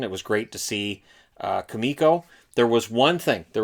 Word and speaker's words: Kumiko: kumako and i'm like it's not kumako it's kamiko and then he got